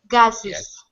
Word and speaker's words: gases: here on the right the singular gas right gas gases gases gases gases right it's definitely an Iz sound all right colad try